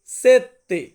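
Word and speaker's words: sette: আছে সাত সাত কে আমরা ইতালিয়ান ভাষাতে বলবো সেত্তে সেত্তে মানে হচ্ছে সাত প্রত্যেকটাকে কিন্তু দেখে মানে মুখ দিয়ে উচ্চারণ করবেন শুধু শুনলে হবে না তো যাই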